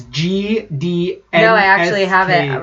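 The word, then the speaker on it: Gdańsk: How would you pronounce that name, the first? It's Gdansk. No, I actually have it right up on the Wikipedia right now. So, Gdansk, Poland. Okay. Gdansk.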